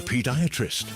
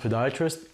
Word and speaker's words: podiatrist: Huss, a paediatrist. It's actually pronounced podiatrist.